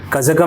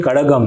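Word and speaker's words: கழகம்: Okay कजगम नहीं कड़कगम है।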